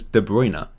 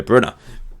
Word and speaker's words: Kevin De Bruyne: city commented commentator said i always thought it was de bruyne but it's according to people it's the brunner fair enough anyway he